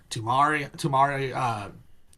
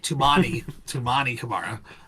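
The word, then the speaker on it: Toumani Camara: Denny, Tumari, Kamara. I just call him Tumari. Tumani Kamara. I knew I said it wrong.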